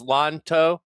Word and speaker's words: Lanto: Um there's one that we're pronouncing Lanto wrong. It's Lanto. Lawn No, I don't need that. I need questions. you just think there's a G there. Think that Imagine there's a G in Lanto's name and you'll pronounce it right.